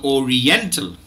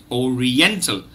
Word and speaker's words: oriental: so but the these the stressed syllable is the third syllable n so Oriental Oriental the the last syllable